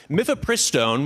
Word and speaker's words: mifepristone: Mythopristone, which is how it's pronounced, has been approved by the FDA for over two decades.